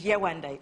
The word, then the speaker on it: Yewande: So I told him my full African name, which is Yewande. It's three syllables.